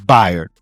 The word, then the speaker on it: Bayard: It's spelled like bae, like like the bae, but it's Bired.